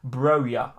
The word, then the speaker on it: Broja: It's pronounced Broja.